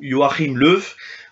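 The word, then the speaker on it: Joachim Löw: en espagnol comme dans le nom du sélectionneur Joachim leuf ou yachim leuf pour le re j'ai mis le symbole phonétique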